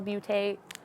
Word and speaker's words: Beauté: It's like an E with an accent on the end, but Millennial Beauté.